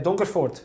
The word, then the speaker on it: Donkervoort: para mí es nuevo, pero sí, se dice Donkervoort, sí.